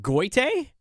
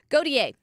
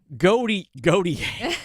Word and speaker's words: Gotye: And this is, I can't pronounce the name, but is it Goite? Gautier. Gautier. Okay. Gautier. Gautier. I know how it's spelled. It's Goyte, right? It's Gotyye. Goty. Mm-hmm. See, I couldn't even get it in a spelling contest. Gautier. Yes. How do you get Gautier out of Gotye?